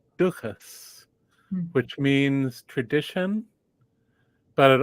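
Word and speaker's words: dúchas: rhymes with this other word in Irish duas which means tradition but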